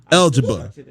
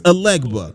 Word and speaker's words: Alegba: Also, we got algebra. No, not algebra, all right? My fault, I said it wrong still. It's Alegba, all right?